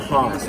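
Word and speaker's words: Hass: While we're talking about the Haas avocado, it is from Julie that I learned that it is pronounced Haas and not Haas, for those of you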